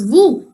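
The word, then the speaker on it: vous: letter is soylent and v o u s was vu and and what's the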